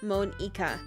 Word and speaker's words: Monika: Okay, so her name does like is pronounced Monika. I was right. But I'm just going to keep reading it as Monica because everybody gave me crap for that last time.